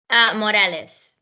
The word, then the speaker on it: Morales: Morales.